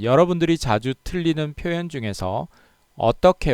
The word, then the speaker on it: 어떡해: 시작하겠습니다 먼저 어떻게 어떻게 이 두 표현 의 발음은 모두 어떻게 입니다 발음이 똑같아요 자 따라해 봅시다 어떻게